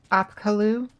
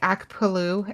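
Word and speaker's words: Apkallu: I always transpose the letters when I'm trying to pronounce Apkalu. I keep saying Akpalu, and that is definitely wrong. Slightly funnier, but wrong.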